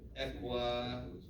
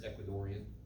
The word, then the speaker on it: Ecuadorian: I like it all equadorian anybody from Ecuador I'm pretty sure it's Ecuadorian is how you say it say that at all